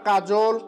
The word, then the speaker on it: কাজল: আবার বলছি, তিন বা ততোধিক বর্ণে গঠিত শব্দের মধ্য অ এর আগে অ, আ, এ বা ওকার থাকলে অ এর উচ্চারণ ওকার হয়, যেমন কাজল। তাহলে আমরা কাজল, কলম এগুলো কীভাবে উচ্চারণ করছি, তাহলে এখানে ক মানে ওকার, মানে ল ওকার হয়েছে কলমে, আর কাজলে বৈকে জ এর ওকার হয়েছে, মানে কাজল, কলম,